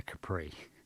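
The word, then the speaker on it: Khepri: Ford Capri but now it's spelled with a k k h e p r i Capri so then Capri also translated as capera or Kappa or Capra or chipri is a Scarab face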